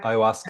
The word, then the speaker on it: ayahuasca: Ayahuasca. Is that how Yeah. you pronounce it? Okay. Ayahuasca.